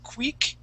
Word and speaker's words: quick: Okay, and that's going to carry a short I sound. So instead of saying quick, we want to say quick.